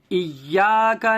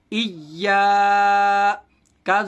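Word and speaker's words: إياك: ایاک نعبد و ایاک نستعین. ہجے کریں گے. حمزہ یا زیر ای، یا الف زبر یا، ایا. یہاں دیکھیے یا کے اوپر تشدید ہے، یا کو 2 بار پڑھیں گے، ایک بار پیچھے والے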